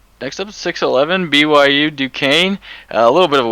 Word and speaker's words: Duquesne: hard to pronounce and I learned a couple years ago it was Duane not Duquesne so take that for what it's worth duquez oh my God you